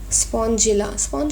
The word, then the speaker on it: Spongilla: This is साइकन, एज यू कैन see, this is साइकन, this is यूस्पोंजिया, and this is स्पॉन्जिला और स्पॉन्जिलिया. Spongilla is the correct pronunciation.